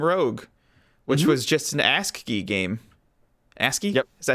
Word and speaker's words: ASCII: Yeah, the 1980 video game Rogue, which was just an ASCII game. ASCII? Yep. Is that how you pronounce that?